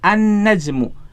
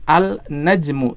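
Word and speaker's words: النجم: Jadi huruf lamnya melebur ke huruf setelahnya. Dalam hal ini berarti huruf nun, ya. Lamnya tidak dibaca. Kita tidak membaca al-najmu, tidak. Ya, salah kalau kita membacanya dengan al-najmu. Tetapi bacanya gimana? An-najmu.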